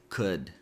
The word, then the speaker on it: could: So this word is pronounced could. Ou here sound like uh and good and the letter L is silent.